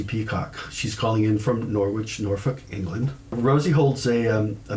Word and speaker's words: Norwich: we pronounce over here norwich which is a very english way to say it so norwich which softens all of